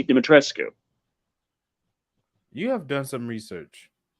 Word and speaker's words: Dimitrescu: the way it's spelled dimitrescu according to the people in the game Who pronounce it dimitrisk according to Romanians who know how you're supposed to pronounce the name that's spelled that way dimitrescue you have done some